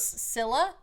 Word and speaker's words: Scylla: This is Sila. I'm using a Greek pronunciation of a mythic creature for that.